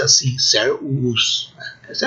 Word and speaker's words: servus: Servus. Vejam essa palavra, interessante, aí 2 U's. O primeiro U sofreu um processo de consonantização, né? E aí no dicionário pode aparecer com V, servus, né?